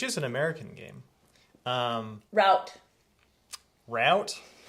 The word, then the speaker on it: Root: an American game um route route it's r o o t oh oops but yeah I'm sure you could pronounce that route as well if you wanted to Ru I mean there's